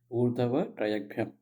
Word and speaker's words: Urdhva-Tiryagbyham: Again, how do we break it up? Urdh, Hava, right? Traya, Yag, Bhyam. Bhyam. Urdhva-Tiryagbyham.